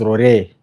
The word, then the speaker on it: Rurii: It is R U R I I may pronounce it as R but it is Rory.